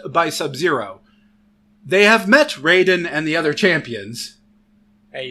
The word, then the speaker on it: Raiden: Sub-Zero they have met Raiden and the other champions hey you pronounced it Raiden instead of writing this time no I didn't I